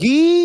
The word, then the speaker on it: Guilherme: It's Guy, by the way. Everyone's pronouncing it gooey. It's like, do your research. His name's Guilherme. It's like, Guy. It's Guy. Damn it.